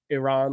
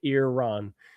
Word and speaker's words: Iran: Uh, there's a proper way to say it. Iran. Yes, it was Persia previously. Yes. Thank you, Tina. Uh, Iran. Iran. Yes, I pronounce it Iran. Um, Iran. I like that. E A R that makes it Iran. Iran. Iran. Yeah. Is the correct way.